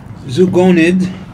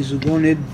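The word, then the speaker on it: ζωογονέω: Now the word preserve comes from a Greek term which pronounced zugonid, Z-0-0-G-O-N-E-D, zugonid.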